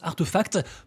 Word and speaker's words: RTFKT: racheté la boîte artefact rtfkt ça se prononce artefact pour 1 million de